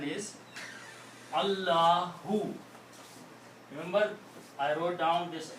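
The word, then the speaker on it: الله: And the correct pronunciation of this is Allahu. The full name, the correct pronunciation is Allahu.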